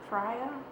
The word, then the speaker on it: Freya: saying her name wrong it's not fray it's right frya i'm listening to the